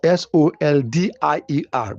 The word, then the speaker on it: soldier: Although the spelling is s o l d i e r but you can pronounce it as soldier. Put j there.